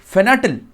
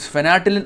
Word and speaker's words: fentanyl: So according to Trump says that from Venezuela, a drug called fentanyl has been illegally trafficked from Venezuela to USA, and this Nicolas Maduro is promoting and funding it.